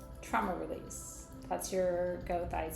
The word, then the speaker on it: goethite: That's your goite. Some people pronounce it gertite because they go all German on us.